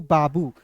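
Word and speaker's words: babu: अंतिम में दिखेगा तो बड़ा ऊ के रूप में करेंगे। तो क्या हो जाएगा? बी ए बी यू बाबू।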